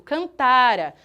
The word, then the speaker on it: cantara: Escrito cantara Tá escrito cantará pessoal cantará nós teríamos um acentinho aqui seria futuro Aqui nós temos o pretérito mais que perfeito cantara a sílaba tônica é sempre o tá ai professora mas ninguém